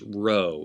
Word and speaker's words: rho: is in peach pro er as in rod but notice in both the capital and lower case row looks like the english letter p but it's rho is in rod sigma as in study